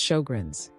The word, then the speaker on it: Sjögren's: Most people have heard of autoimmune diseases like rheumatoid arthritis or lupus, but Shogun's syndrome, pronounced Shoggrins, is just as prevalent, yet remains widely misunderstood and frequently misdiagnosed.